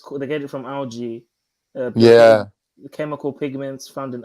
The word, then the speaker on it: algae: I did the American pronunciation because the American pronunciation is algae. The British one is algae.